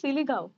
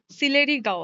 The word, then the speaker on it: সিলেরি গাঁও: এই যে আমরা কি সিলিগাঁও সিলেরি গাঁও সিলেরি গাঁও আচ্ছা সরি প্রোনাউন্সিয়েশন একটু ভুল হয়েছে সিলেরি গাঁওতে আছি এখন